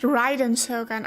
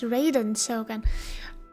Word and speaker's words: Raiden Shogun: It's pronounced Ryden Shogun. I've always thought it was Raiden Shogun, but Raiden Shogun sounds cooler, doesn't it?